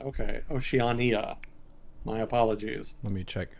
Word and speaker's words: Oceania: that much you know i haven't followed um oceania which apparently is how it's pronounced i was pronouncing it oceania last with the last time and people in